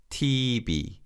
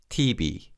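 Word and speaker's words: 티비: a television a tv koreans also call television tv but phonetically in korean so it's tb tb let's say that together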